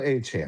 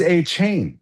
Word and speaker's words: Achane: So, does that So, Trevor is also Achane? Yes. That's the way you're supposed to say it. Isn't that crazy? And yet there is an Achane. There is an Achane, but of course it's A C H A N. We thought it was A chain.